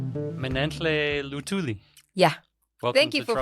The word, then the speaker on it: Minentle Luthuli: Manle lutuli. Yeah. Thank you for pronouncing it right for an East African. Actually, most people say thuli or Yes, they do. They they call me Min Luthuli.